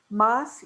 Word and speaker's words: Mas: Is it pronounced Mas? You pronounce the S? Yeah. Mas-Champart.